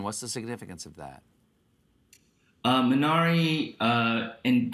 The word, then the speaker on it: Minari: Minari, and how Koreans would pronounce it, Minari.